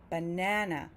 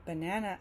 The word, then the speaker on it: banana: I don't say banana, I say banana, banana, meaning that that middle syllable, the second syllable, is louder and longer than the other two sounds. So even though this word banana has three sounds, one